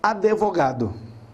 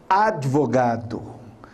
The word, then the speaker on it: advogado: Então, por exemplo, é muito comum, especialmente aqui em Cuiabá, nós falarmos advogado. Porém, não existe esse E, é advogado.